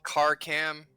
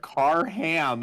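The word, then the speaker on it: Karkam: I spell that just it is a k it is k a r k a m car cam gotcha okay I was I was like I heard I heard car ham and I'm like what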